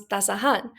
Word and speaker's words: tasahan: For example, tasa with the suffix an becomes tasahan, where the stress shifts from the first syllable to the penultimate syllable.